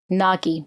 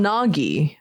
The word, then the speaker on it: Gnaghi: Nagi. And he can only say nya. Nya. Which is not like nya, cute cat. Well, it sounded like Nagi, as in like a snake, or something.